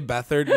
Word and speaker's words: Beathard: you do not pick CJ Beathard number one which is actually how you pronounce his name if you do not